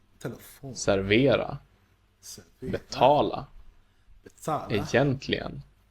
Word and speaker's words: telefon: syllable. Telefon, Telefon.